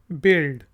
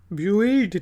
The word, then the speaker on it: build: फिर वर्ड है जी BUILD, बिल्ड। ठीक है जी, यू साइलेंट है, बिल्ड। ब्यूल्ड नहीं कहेंगे, बिल्ड, तामीर करना, बिल्ड।